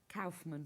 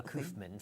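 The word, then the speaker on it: Kaufman: You might get a How do you pronounce it? Robert Calfman. Calfman. I always go Kofman for some reason.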